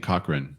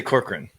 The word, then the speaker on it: Corcoran: Isn't that how you say it? Some people are saying Cochran, but that doesn't look like it's Corcoran. I'd say Corcoran.